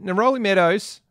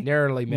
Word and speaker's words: Neroli Meadows: And secondly, Neroli Meadows. Did I pronounce that correctly? Narrowly Meadows. Narrowly Meadows.